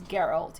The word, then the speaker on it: Geralt: i was wrong and i understand that it's geralt even though i think that's stupid um let's move on